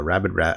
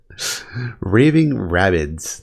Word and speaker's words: Raving Rabbids: I always find fun so I got uh rabbit uh rabid Raving Rabbids that's how you pronounce it uh another two dollar game uh